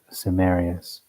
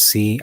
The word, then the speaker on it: Cimmeri: According to the above account, the Cimmeri, I'm just going to say, it says Cimmeri. I'm going to pronounce that as a hard K, not like an S from this point forward.